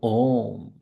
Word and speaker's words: ओम: उसके बाद मैं और इसके उच्चारण करने के सिर्फ तीन ही तरीके हैं पहला हर्ष दूसरा दीर्घ च दूसरा दीर्घ तीसरा प्लूट इसी तरह से करना है या तो ओम बोलना है या ओम या फिर तीन गुना कर